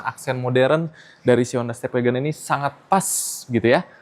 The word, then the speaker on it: STEP WGN: Di sebelah kiri ada step WGN ya. Namun kita bacanya stepwagon ya.